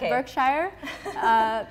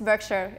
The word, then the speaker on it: Berkshire: HomeServices shirt Berkshire yeah it's not work Shire it's Berkshire its I also used